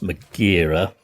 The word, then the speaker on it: Megara: I think I said HMS Megara, but I think it's actually pronounced Magira, and it was actually